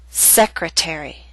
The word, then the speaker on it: secretary: a true T attack appetizer and secretary are longer words they have both primary and secondary stress primary stress is at the beginning of these words but the teeth still falls on a stressed syllable its secondary stress a little weaker but still stressed that's why it's still a true tea and we say appetizer secretary end of part 1